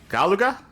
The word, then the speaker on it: Galuga: They would try again years later with Operation Gal Galuga, right? Galuga. Galuga, how it's pronounced in the game.